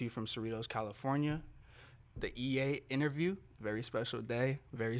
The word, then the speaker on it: Eyit: doing saying they're wrong um my name is ea that's how you say it okay there you go now you know how you pronounce the name because they might have seen